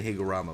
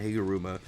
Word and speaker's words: Higuruma: find some information on how to pronounce his name, Higuruma. Higuruma. I was gonna say Higurama, but Higuruma.